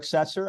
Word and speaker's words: Setzer: individual guest but uh his name is cesser I'm pronouncing that correctly right yeah and you were